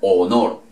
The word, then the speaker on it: honor: se escribe con h pero no se pronuncia honor sino honor ok dividir que siempre